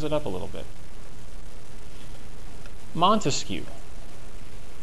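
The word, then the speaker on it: Montesquieu: Montescu, that's how you say it.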